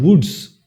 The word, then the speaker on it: wootz: a word, anglicized word, and that is called woods.